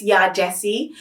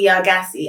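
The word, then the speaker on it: Yaa Gyasi: gassy here we've got i always get it wrong i hear that it's ya jessie but i pronounce it ya yargassee i think it is your jessie and i feel really like i think it's here jessie and i've got her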